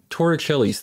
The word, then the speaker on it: Torricelli: Another thing we can get from Bernoulli's equation is Torricelli's theorem, which I'm exerting all of my willpower to not pronounce it Torricelli.